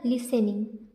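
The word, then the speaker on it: listening: fear okay on लिसनिंग इसमें टी क्या है साइलेंट है तो यहां क्या हो जाएगा लिसनिंग ली से निंग लिसनिंग द ब्रे अभी ऊपर हमने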